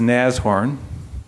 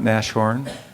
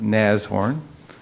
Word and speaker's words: Nashorn: unofficial logo nassau orange is pronounced naz horn not nash horn not not nass horn but naz horn this is to pay